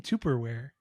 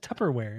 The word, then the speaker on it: Tupperware: going to tear that why are you saying tuperware what do you me how do you say how you say it it's just Tupperware it's there's two P's in there you didn't say that